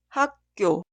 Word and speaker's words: 학교: La primera sílaba termina con la consonante final 기역 y la sílaba posterior inicia con otra 기역. La 기역 consonante inicial se pronuncia como 쌍기역. 학교, 학교.